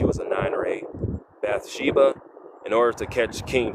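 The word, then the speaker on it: Bathsheba: But this King David, a bad by the name of Ba I'm want to pronounce her name correctly. Bath Sheba.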